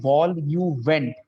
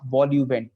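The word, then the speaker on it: vol-au-vent: So now it looks like vol au vent, but it is not vol au vent. The French pronunciation is vol au vent. So please remember this thing.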